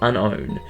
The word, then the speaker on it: Unown: yes it's pronounced unknown there's no K it's Unown this thing basically acts